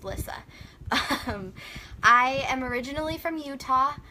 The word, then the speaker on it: Lissa: start by introducing myself my name is Lissa if you hear anyone ever call me Lisa that's not my name they're saying it wrong it's Lissa I am originally from